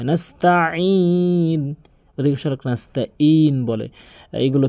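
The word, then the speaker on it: نَسْتَعِينُ: এরপরে যে মারাত্মক লেভেলের ভুল করে নাস্তাইন বলে, মানে হামজার উচ্চারণ করে ফেলে। এখানে আইনের উচ্চারণ করতে হবে হলকের মাঝখান থেকে, নাস্তাইন, এভাবে নাস্তাইন।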